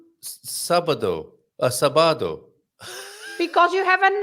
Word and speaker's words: sábado: Sábado. I knew that really. Sábado. Yes, Yes. that you are right. Lots of Yes. people say sábado Yes. because they don't put the accent on the A, right?